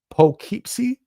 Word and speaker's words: Poughkeepsie: It's pronounced Poughkeepsie.